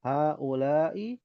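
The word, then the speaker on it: هؤلاء: Ah haulai ikhwati. Pendek ya. Nah dibacanya pen pendek.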